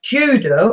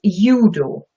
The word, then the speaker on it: Judo: It's not judo, as in English. It's judo.